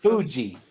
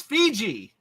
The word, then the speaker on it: Fiji: are you guys pronouncing Fiji Water like people pronounce oh it's wrong Fuji Fuji as in Mount Fuji I thought Fiji isn't like Fiji is a country water for him it's Fuji no wait he's right it's Fiji it's Fiji yeah I thought you guys were